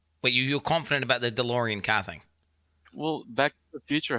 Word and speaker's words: DeLorean: before in the 90s you're pronouncing it wrong that's why john deloren delorean what does that remind